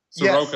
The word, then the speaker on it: Soroka: Soroka.